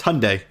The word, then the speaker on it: Hyundai: a good month hande you think it's how you pronounce it it's Hyundai oh yeah okay cuz I know it wasn't Honda no because I know